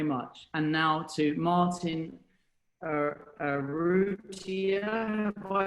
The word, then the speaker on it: Arrutia: And now to Martin Arrutia. Have I pronounced that correctly?